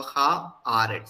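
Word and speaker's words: הארץ: And maybe because of the reason we can understand is like hey Eretz. If it were we can't pronounce, so they have put it ha Eretz.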